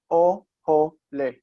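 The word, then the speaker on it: אָהֳלֵי: Ohole. Be'ohole Shem. The word ohel means a tent, and this is the plural is ohalim, but the plural construct is ohole with o in the two syllables.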